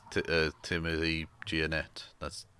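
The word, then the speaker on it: Gionet: goes uh tim tim yeah it's uh timothy giannette that's it's not that difficult to pronounce girl and he goes he goes by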